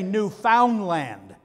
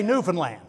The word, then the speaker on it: Newfoundland: Now, I used to say Newfoundland until I went to Newfoundland. You don't say Newfoundland. They know you're a visitor. You say Newfoundland, okay? You got to say it right.